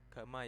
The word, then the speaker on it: Gamma: Gamma ya ini bacanya, bukan Y.